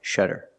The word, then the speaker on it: shutter: but it's spelled differently it has a Double T but it makes the same sound the fast D sound shudder shutter shutter is a noun they're